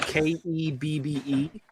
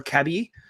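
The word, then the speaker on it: Kebbe: We live on a street that's spelled K E BBE. Technically, it's pronounced Keb or Kebie. Uh, but nobody ever says that. Everyone always called it KBI.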